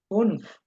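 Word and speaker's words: fünf: ফুনফ। ফুন, your উপরে আমি নকশা দিতে পারি না এই জন্য ইউ ই হবে, তখন এটা উমলাউট তৈরি হয়ে যাবে। উ উচ্চারণ হবে।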